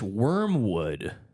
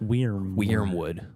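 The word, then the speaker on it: Wyrmwood: But yeah, Wormwood, it's spelled W-Y-R-M Wood. Wormwood, which is the name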